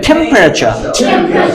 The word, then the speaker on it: temperature: স্ট্রেসটা কোথায় আছে? শুরুতে। তাহলে এখানে আমরা একটা জোর দেবো, বলো টেম্পারেচার টেম্পারেচার টেম্পারেচার।